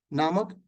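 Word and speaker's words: mneme: एक शब्द दिया था नेमे जिसमें एम साइलेंट है ने में और दूसरा शब्द दिया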